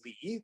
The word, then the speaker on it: Li: Like a lot of people have heard of Tao, but not as many people do Li. This is pronounced Li.